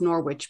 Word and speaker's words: Norwich: Norwich, which is spelled N-O-R-W-I-C-H. And so you think would be pronounced Norwich, but is actually Norwich to rhyme with porridge.